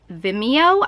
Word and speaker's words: Vimeo: finally available to download or to rent on Vimeo I think that's how it's pronounced it's VI m EO Vimeo calm the